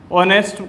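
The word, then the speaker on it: honest: वो देखेंगे, तो देखो इसको अपन बोलते हैं ऑनेस्ट करके बोलते हैं। तो इसका पहला साउंड क्या आएगा, ए आएगा।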